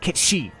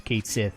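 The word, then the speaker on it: Cait Sith: or Kate Sith, or Kate Sheep, because for some reason they decided to use Kate Sith as the pronunciation in Rebirth. That's wrong! But anyway, it's Kate Sheep, by the way.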